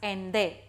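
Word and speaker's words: Allende: chapter again and again the first name is ande though the spelling is different but it is pronounced as ende ende was the founder of the Chilean Socialist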